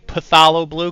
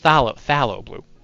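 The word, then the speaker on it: Phthalo Blue: this all the time because I keep saying paalo blue because I'm a it's pronounced Thal phalo blue so make fun of me it's also very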